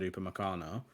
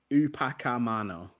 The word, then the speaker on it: Upamecano: Also, can I just point out, Mark, that even though you said it right and you said Upamecano, Aaron did say it's Upacamano. Oh yeah, in his Upacamano, according to Aaron. Upacamano.